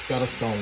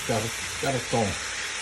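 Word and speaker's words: Gorton: Spelled G-O-R-T-O-N, but pronounced Garton with it. My mother used to pronounce it with that rolling R, Garton.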